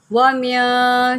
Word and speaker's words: وَمِن: شَرِّ النَّفَّاثَاتِ فِي الْعُقَدِ۔ یہاں پر آپ واو کو ہونٹوں کو گول کر کے پڑھیں گے، وَمِن شَرِّ النَّفَّاثَاتِ۔ یہاں پر میں آپ کو